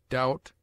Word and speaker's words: doubt: obtains in other languages it is mute in debt debter subtle doubt lamb limb Dum thumb climb comb womb it is used before